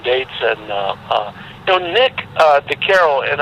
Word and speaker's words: DeCaro: idea that like you and DeCaro, am I pronouncing his last name correctly, by the way? DeCaro. DeCaro. Like with DeCaro's Italian Graffiti album, for some reason, I bought that album like 10 years ago.